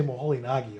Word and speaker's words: Moholy-Nagy: To pronounce, so if you say Moholy-Nagy, all bets are off.